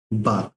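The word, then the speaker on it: balk: ठीक है, चलिए नेक्स्ट वर्ड है बाग। ठीक है, एल यहाँ साइलेंट होता है।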